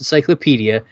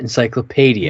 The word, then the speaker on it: encyclopedia: the whole encyclopedia thing it's pronounced encyclopedia not encyclopedia no I'm glad you